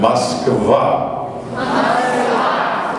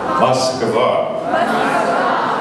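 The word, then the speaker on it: Москва: Moskva. Moskva.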